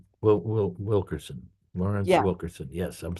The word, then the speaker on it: Wilkerson: Who Yeah, is Colonel Wilkinson. Wilkerson.